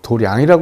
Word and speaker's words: 도량: 도장 그러면 냉생 얘기하면 도장이란 용어는 똑같은데 우리 불교에서는 도량이라고 쓴단 말이에요. 도량이라고 읽는단 말이죠.